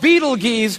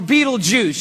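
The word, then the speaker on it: Betelgeuse: about this star it's called Beetle Gees or Beetle Juice you can pick your pronunciation I'm obviously going with Beetle Juice and Beetle Juice is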